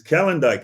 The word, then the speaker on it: Calendike: It's Calendike. It's Polish.